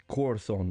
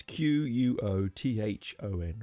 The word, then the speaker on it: Quorthon: And that singer was Quorthon. Now I often pronounce that wrong. It's Quothon, right? Quorthon, sorry.